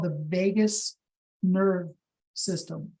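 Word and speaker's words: vagus: It's not spelled Vegas like Las Vegas. Um it's spelled v a gus like vot.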